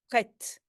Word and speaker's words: prête: Then it would have been prêt. And now it's prête. You hear the T because you only do not pronounce the last letter.